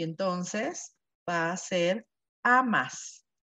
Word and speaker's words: amas: Tú, y entonces va a ser amas. Nada más que cambia la sílaba tónica, ¿verdad? En Argentina, Nancy. Sí, es amás. Amás, ¿no?